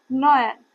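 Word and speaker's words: neu: जैसे कि एन ई यू एन नयन इसका प्रोनंसिएशन क्या होगा? नयन इसको जर्मन में न्यू बोलते हैं। न्यू को नयन बोलते हैं। जैसे इंग्लिश में न्यू बोलते हैं और लेकिन जर्मन में न्यू नयन हो जाता है।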